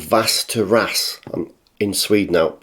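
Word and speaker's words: Västerås: in a place called vast Terrace I'm in Sweden now I think faster ass that's how you pronounce it so he's had 58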